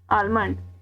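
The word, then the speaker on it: almond: में आलमंड कहते हैं आलमंड एल साइलेंट नहीं होगा ठीक है आलमंड काजू को इंग्लिश में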